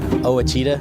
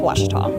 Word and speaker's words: Ouachita: runs in the family I've heard people say oh a cheetah oh Wichita oh a cheetah is it pronounced oh Akita searching for Washington Baptist University back in Texas everybody pronounces it Wichita but really it's Ouachita Washington how would you pronounce it Ouachita it's Ouachita Baptist University get it right it's watch us all